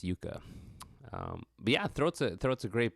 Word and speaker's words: Jukka: It's Jukka.